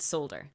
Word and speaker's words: solder: what happened was that in the states they kept the original pronunciation while it was the British English that evolved in this case. And so as a person in Ireland I say the word solder. I'm not saying it incorrectly.